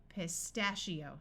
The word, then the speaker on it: pistachio: the muffled a sound pistachio I one followed by an O usually has a long e sound so we have EO pistachio that is a type